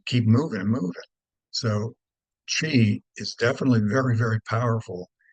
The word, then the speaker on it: qi: Number one is the idea of chi, and you can spell it either of those ways. So if you pick up a book, you might see it as QI. I know that looks a little bizarre, but chi.